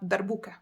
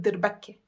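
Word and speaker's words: darbuka: the Middle East but in my accent in my Syrian accent we call it not darbuca we call it der Bakke then we have the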